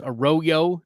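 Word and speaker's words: Arroyo: Yeah, evidently it is supposed to be pronounced Aoyo, like a yo-yo, only a royo.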